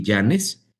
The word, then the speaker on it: Illanes: Mira, es muy sencillo encontrarme por mi nombre, que es Yanes. Yanes se escribe tal cual como lo escuchas y W L a n s.